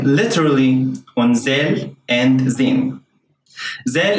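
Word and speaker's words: ذ: Zal in standard Arabic is pronounced like a voiced th sound, as in the word mother, while in standard Arabic it's a regular Z sound.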